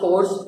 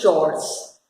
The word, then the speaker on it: chores: I pronounce it course. Many people say chores, but technically the correct word is chores. Actually it is chores, लेकिन people avoid it.